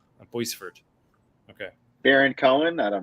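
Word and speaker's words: Boisvert: Yeah, is that how you pronounce it? Boisevert? It's not Boyver. Boisevert. Boisevert.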